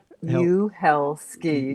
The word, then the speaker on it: Uhelszki: name or how okay it's really easy it's like go to hell ski You Hell ski just break it down and you ignore the Z helski and